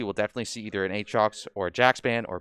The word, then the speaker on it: Aatrox: I know you caught me on that because I was calling him Atriox, I think.